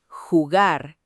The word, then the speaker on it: jugar: En español, la J es un sonido gutural, fuerte, que viene de la garganta. Garganta es la parte interna del cuello. Jardín, jugar, jefe.